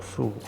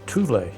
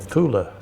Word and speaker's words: Thule: Now on to Purgator Fool, who I've been reliably informed should be pronounced Thule or Thule. It's Norwegian apparently.